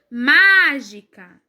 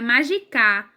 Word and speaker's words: mágica: mais forte oi ó mágica mágica eu já vejo que não é porque a sílaba mais forte é um mar não é o cara se não seria magica é mágica então já não